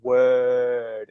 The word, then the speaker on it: word: It's word. It's a long vowel sound, but you word, don't pronounce the R.